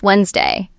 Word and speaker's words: Wednesday: But it's actually just Wednesday. 2 syllables. The D in the middle disappear.